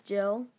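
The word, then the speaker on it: Gili: Anyway, so this is Jill. It's actually spelled G-I-L-I, Jill.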